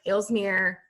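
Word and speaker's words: Aalsmeer: is the and it's it's spelled a-a-l-s-m-e-r elsmere flower market so i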